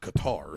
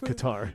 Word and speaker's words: Qatar: And so I was I think it's pronounced Qatar, sir. Not really. If you're in the U.S., Qatar.